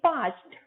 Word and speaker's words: parched: Very thirsty को बोलेंगे parched, र silent, ड की जगह हम ट बोलेंगे, parched.